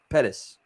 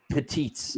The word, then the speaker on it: Pettis: well Pettis yeah you said it right the second time I was saying petites sorry go ahead you said and then you said Pettis and I was like no the second one's right no you're good just